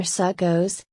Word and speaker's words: Sukkot: Sekot or socket in traditional Ashkenazi pronunciations echoes or succos literally feast of booths